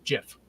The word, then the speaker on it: GIF: on this decade-long debate both gif and the peanut butter are pronounced jiff so yeah confusing too